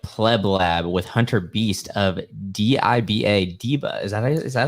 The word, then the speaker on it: DIBA: startup day at pleblab with Hunter Beast of Diva diva is that is that how you say it yeah Deepa it's uh it stands for digital Bitcoin assets